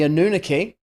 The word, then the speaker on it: Anunnaki: alien guide exactly big shout out to the anunnaki which i discovered is how you pronounce it after i listened to